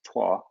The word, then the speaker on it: Troyes: And even more interesting, perhaps, is if you look over to the right around Troyes, it looks like Troy, but pronounced Troyes.